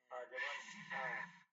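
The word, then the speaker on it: حَ: হ্যাঁ, শব্দ হবে, বাতাসের মতো শব্দ হবে। হ্যাঁ, বাতাসের মতো শব্দ আসবে না, বাতাসও আসবে সাথে।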